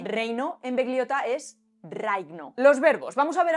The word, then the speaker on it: raigno: Es decir, cuando en dálmata vemos escrita una G y una N, se pronuncia como una G y una N. Reino en begliota es reigno.